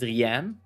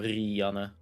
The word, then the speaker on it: Rianne: A lot of English people pronounce it Rianne. And yeah, we Dutch people have a little bit more of that R, so Rianne.